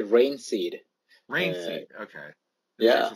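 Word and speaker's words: Reinxeed: Is it Rain Exceed or? No, it's actually Rain Seed.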